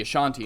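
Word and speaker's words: Asante: any means um but the ashanti and that's how you pronounce their names a-s-a-n-t-e uh were strong participants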